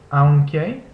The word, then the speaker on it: aunque: Next is this a-u combination, which makes a sound similar to the English word cloud.